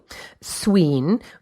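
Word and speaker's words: swīn: the suid a family sween which is how it would have been pronounced in Old English modern swine meant strong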